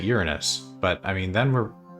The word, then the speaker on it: Uranus: It's the planet Uranus. Well, okay. Some people say we don't pronounce it that way. We pronounce it Uranus.